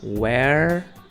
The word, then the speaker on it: where: não tem problema agora Where o r e é a pronúncia é a mesma como se fosse só um R no final então a gente fala Where e when que é